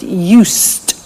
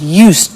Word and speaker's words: used: listen to the pronunciation i said used with t sound used not used or used